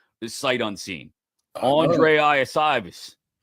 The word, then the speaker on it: Iosivas: Yoshi Voss. Yoshi. And I think I said it right too. Every single letter in his name does not sound like how it comes out.